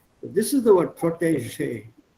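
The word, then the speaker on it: protégé: It's a French word, so pronounce that je, P-R-O-T-E-G-E. E with an accent, G, E again with an accent. Protege. What accent liegt auf der ersten Silbe? Protege, not protege. Protege.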